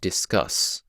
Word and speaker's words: discus: The other example that might be easier for you to remember is discus and discuss. So discus has the stressed syllable and then unstressed, and then discuss has unstressed and then stressed.